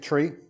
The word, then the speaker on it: trie: my holiday pictures in comes from the word retrieve and that's why it's pronounced a tree but you know some